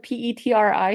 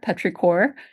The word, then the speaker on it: petrichor: Um, so yeah, it's spelled P E T R I C H O R. Petraore. Uh, some people say Petri, but it's Petraore.